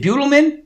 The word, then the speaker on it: Buttleman: Hello, saying, is it Butelman? That's how you say it, right? Butelman? Buttleman. Buttleman. Like I was saying, Buttleman. Please try to pay attention, people. Buttleman, not Butelman.